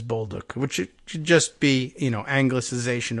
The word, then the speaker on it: Bolduc: New Hampshire police officer pronounces his name as Bolduc. No Bolduc. It's not, they don't retain any Central European or Slavic pronunciation of it.